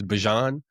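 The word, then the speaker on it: Bijan: I guess I guess we actually don't pronounce his name Bejan. We've been pronouncing it wrong for years. I guess it's Bjon Robinson when Bjon was back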